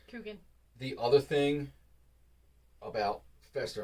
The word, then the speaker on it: Coogan: Liked Thing, liked Lurch, Nick Kroll's Fester voice, as a throwback to Jackie Cogan. I'm mispronouncing that wrong. Coogan.